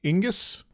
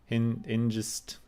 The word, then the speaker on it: Hengist: Yes, I think it was sort of pronounced like Ingus. Hingist. Hingist.